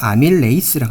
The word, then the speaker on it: 아밀레이스: 자, 정확한 발음은 알파 아밀레이스라고 합니다. 자,이 아밀이라는 뜻이 무엇이다면요.